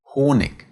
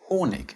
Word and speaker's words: Honig: When put at the end, it is spoken softer than the K. Honig, 20.